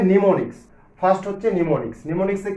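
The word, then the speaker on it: mnemonics: নিমোনিক্স। First বলা হয়েছে নিমোনিক্স, যদিও এটা এম দিয়ে শুরু বাট উচ্চারণটা হবে নিমোনিক্স।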